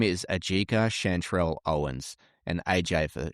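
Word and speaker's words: Ajike: I think it's Ayika. See, I thought that too, but I listened to it and then I phonetically wrote it down. Ajika. Because it's spelled AJIKA.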